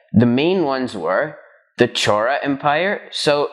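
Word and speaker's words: Chola: up southern india the main ones were the chora empire so it's spelled c-h-o-l-a but it's pronounced as chora anyway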